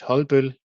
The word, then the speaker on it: Holbøll: So the pro pronunciation of the company name is Hulbul but I'm trying just to say it uh